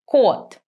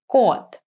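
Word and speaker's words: кот: When you say K in Russian, you do not aspirated, as you do in English. So, for example, the cat in Russian is pronounced kot. Can you hear that my k has less air coming out from my mouth if I compare it to cat?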